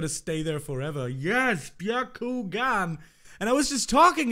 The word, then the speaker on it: Byakugan: Byakugan, not Byakuyan.